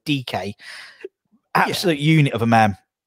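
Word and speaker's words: Dike: American guy, Daryl Dyke, or Darren DK, I believe he pronounced his name, Daryl DK.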